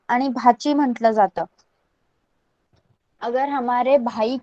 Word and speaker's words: भाची: कैसे प्रोनाउंस करना है? PUTANI, पुतणी. BHACHI, भाची.